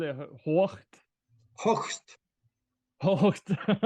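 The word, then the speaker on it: Hoechst: Hocht. That's German. There is no really British English translation for that. You have to say it like German.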